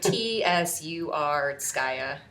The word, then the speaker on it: Tsurskaya: And then we have Polina Tsurskaya. Am I saying it right? Maybe. I don't know. I'll have to ask my Russian friend. Okay, yes. It's like Tsurskaya.